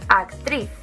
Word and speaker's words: actriz: Lleva el golpe de voz en la última, actriz.